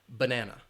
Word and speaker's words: banana: So it's 3 syllables, banana, and that last one, that na, because it's B-A-N-A, it's only the vowel, the letter A, but that last one has that schwa sound. It's unstressed.